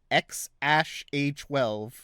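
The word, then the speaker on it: X Æ A-12: mean for like okay the pronunciation of his name is of the child's name is X Ash a12 what the [ __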